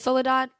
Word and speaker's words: Soledad: fact listening tour was soledad am i pronouncing that right soledad yeah soledad solida anything yeah you know people it's really well it's spanish so it's my full